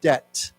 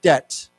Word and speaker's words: debt: this word we say we don't pronounce the b we say just debt okay let's say again debt okay in China's giant